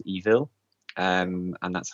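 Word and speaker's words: Eville: was on tablet and so this game's called evil um and that's how it's pronounced even though it's spelled with a double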